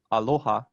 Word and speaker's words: aloha: sometimes it does right so typically uh it's penultimate as in aloha which means love but